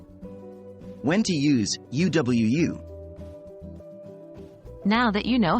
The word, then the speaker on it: UwU: in boot or loose and the second U is pronounced the same way the W is pronounced just like the English letter W when to use U Wu now that you know